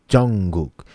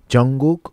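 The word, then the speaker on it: 정국: say Jungkook or Jungkook I pronounce more close to CH because it's a beginning but the second tone is in the middle so it doesn't really need to be very strong at all because I already initiate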